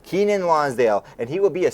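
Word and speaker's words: Keiynan Lonsdale: Keenan Lonsdale. Keenan Lonsdale, and he will be a series regular.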